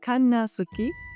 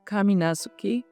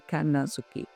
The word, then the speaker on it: Kannazuki: En japonés octubre se llama Kanasuki, que literalmente significa el mes sin dioses. A veces pueden pronunciado como kaminasuki, pero bueno, el significado es el mismo. Lo más común es decirle Kanasuki. Durante este mes, todos los